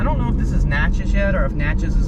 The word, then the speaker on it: Natchez: is okay this is natchez okay i'm not gonna lie and now that i've learned how to pronounce the name of that town it's really fun to say matches if i lived